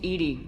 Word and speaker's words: EDI: have a specific inquiry why are you named Ed Ed is the phonetic pronunciation of Eed that is an acronym for